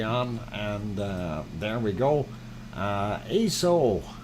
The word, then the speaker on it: Aso: Aso, Aso-san. It is spelled A-S-O. It is Japanese.